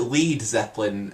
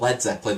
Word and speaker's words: Led Zeppelin: and dudettes, basically like Americans would so like pronounce it Lead Zeppelin, so it was spelled L-E-A-D. And so like the band sort of had to change their name to LED, Led Zeppelin, so not to confuse the Americans.